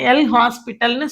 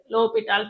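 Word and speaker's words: L'Hôpital: லோபிட்டால் தியரத்தை அப்ளை பண்ணி எல் ஹாஸ்பிட்டல்னு சொல்லாதீங்க, அப்படி ப்ரொனவுன்ஸ் பண்ணக்கூடாது. அதில் வந்து எல் ஓஎஸ் அதெல்லாம் சைலண்ட். லோபிட்டால் தியரம்னு தான் சொல்லணும். அவரோட பேர் லோபிட்டால் தான்.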